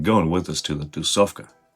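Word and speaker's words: тусовка: It's only 3 syllables. Tu, sov, ka. Tusovka. An easy way to remember it would probably be the word tu, soft, and cat.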